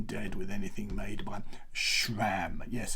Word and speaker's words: SRAM: Yes, it's not SRAM, it's not SRAM, it's not SRAM, it is SRAM. So sh as in shut up, sh as in shh, there's something coming, am as in I am a YouTuber. So you put those two together and you get, well, you've got to add the R somewhere. So R as in row your boat ashore.